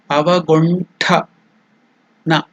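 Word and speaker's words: अवगुण्ठन: Tongue touching the teeth is na. But this is tongue touching the upper portion of the mouth. Na. So that is the difference. Just like when you tell ton, under, that pronunciation. So it is avagun. Then ta is also not alpa prana. It is mahaprana. Tha. Avaguntha. Na. Avagunthana. That is the pronunciation.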